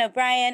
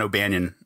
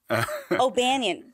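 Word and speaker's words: O'Bannon: I'm going to correct you on the pronunciation there. It's the Dan O'Banion. O'Banion.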